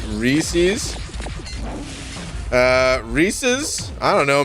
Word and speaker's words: Reese's: if that's what happened it's pronounced recess like the cartoon recess is it really hold on dude how do you pronounce uh reese's it's not recessed though reeses i i whatever that's